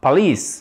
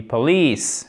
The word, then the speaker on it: police: Mais là où ça devient vraiment intéressant, c'est que déjà, on ne dit pas police, mais on dit police. Accent tonique sur la deuxième syllabe.